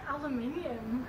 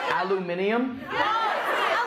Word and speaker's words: aluminum: be I buy aluminum she just said something that was so not a word aluminium aluminum die aava aaba aava you're all dead you're all so dead dude oh y'all man that's not a word aluminium where are all the extra letters coming from you're doing too